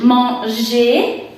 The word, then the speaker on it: manger: Y se pronuncia vous allez manger con más o menos j, manger.